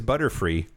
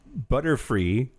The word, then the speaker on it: Butterfree: Butterfree, if you pronounce butterfly, turn the L into an R and mispronounce the Y as an E, because Y makes an E sound sometimes. It's just butterfly in a fucked up Japanese way.